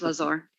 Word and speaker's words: Lazar: that's funny everybody does they call us laser but it's lazar anyways obviously i'm not